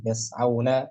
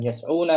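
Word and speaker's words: يسعون: Yas'auna, yanhauna, bukan yas'una kan? Nah. Yas'auna gitu bacanya.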